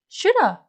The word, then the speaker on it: shoulda: If you want to sound really natural, you can just say shoulda.